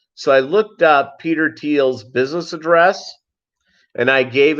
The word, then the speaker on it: Thiel: You get women wanting to know more about you, even though Peter Thiel, that's how he pronounces it.